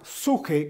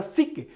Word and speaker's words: psique: La palabra psique o la pronunciación como tal es una pronunciación anglosajona, pero en la transliteración del griego koiné o griego helenístico, la palabra alma se traduce y se pronuncia de manera correcta como suje, porque está relacionada con